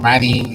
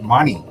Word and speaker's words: Mani: He's not Manny, like in Latino. No, he's from India. His name is Mani. Okay, it's pronounced exactly like Money, but it is written as Mani.